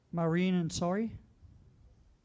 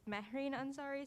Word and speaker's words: Mehreen Ansari: Maureen Ansari? Hi, sorry. It's Mehreen Ansari, spelled Mahreenansari.